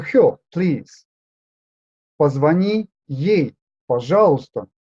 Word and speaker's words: пожалуйста: Позвони ей, пожалуйста. This letter is taken into brackets because it is silent.